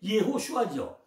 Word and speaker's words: 예호수아: 여호수아가 원 발음이 예호수아죠.